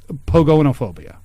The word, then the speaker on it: pogonophobia: no that was no I just said it wrong it's Pogo it's pogonophobia that's what I but what